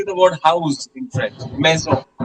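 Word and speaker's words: maison: Meo. Meo. M a i s o n. So in the word meo the s is pronounced like a zed. Why? because it is coming between two vowels.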